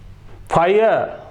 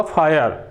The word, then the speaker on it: fire: इसके अलावा उदाहरण की बात करें, FIRE, फायर, आर ही है लास्ट में, तो इसका प्रोनाउंसिएशन होगा फायर।